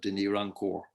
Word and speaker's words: Denis Rancourt: Ontario in Canada called, I would pronounce it Denis Rancourt, but I think he's French speaking, so he calls himself Denis Rancourt.